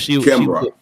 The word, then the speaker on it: Kimbra: It's like camera, but Kimra, because Kimbra.